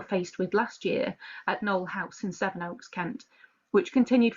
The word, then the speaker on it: Knoll House: Am I pronouncing that correctly, Knoll House? You are, yes.